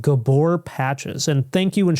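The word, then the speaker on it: Gabor: I was calling it gabber patches. And I guess I was pronouncing it wrong. It's called Gabbor patches.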